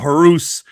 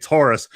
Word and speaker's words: Horace: Again, it's not Horus. It's Horace. We were taught by Selena how to say it.